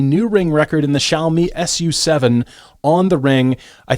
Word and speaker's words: Xiaomi: And speaking of performance, Xiaomi, I believe, is the correct pronunciation.